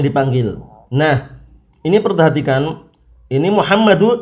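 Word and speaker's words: مُحَمَّدُ: nah ini perhatikan ini muhammadu tidak boleh kita bacanya Muhammad dan ya Muhammadun Khan madu tidak boleh ditanwin juga kapan ini setiap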